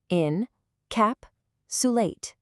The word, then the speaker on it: encapsulate: It is pronounced in-cap-sulate.